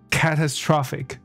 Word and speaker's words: catastrophic: OK，我在乱打词 catastrophe， yes， catastrophic， OK， catastrophic，所以中音变在 tra 上面，所以音节跑掉。